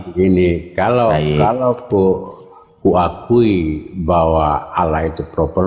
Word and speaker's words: Allah: Iya Allah. Dibaca double, Pak ya.